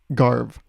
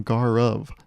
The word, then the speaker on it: Garv: name I was like garve now I started with garve you can see that that's not actually how you pronounce my name you pronounce my name gar of it's two syllables but a lot of